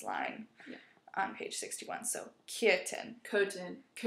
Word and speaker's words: Köthen: So Köthen. So kind of like curtain, but obviously not. Right. Yeah. Köthen. Like if you say curtain, but you remove the R, kind of like that.